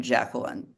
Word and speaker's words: Jacqueline: I typically people call me Jackie, but I would say I typically pronounce my name Jacqueline. Yeah, I prefer it, but it's nice to pronounce the Q. Qua, Jacqueline, Jacqueline.